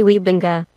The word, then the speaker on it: Wybenga: It is made by a person, Garry Wybenga, and reading this name I know that his ancestors came from Friesland or Groningen in the Netherlands, so the correct way to pronounce it would be Garry Weebinga. And yeah, to be honest,